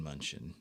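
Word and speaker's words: Mnuchin: it munchin Steve Steven munchin I think is how you pronounce his name like I said oh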